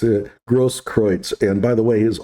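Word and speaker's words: Grosskreutz: arts and mr was kevin gross nobody could pronounce that poor bastard's name it's a gross kreutz and by the way his own lawyer can't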